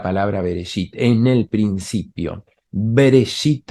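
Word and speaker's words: בראשית: Bereshit, acá algunos colocan una E, es una E casi muda, Bereshit, así sería la pronunciación. Acá está escrito desde arriba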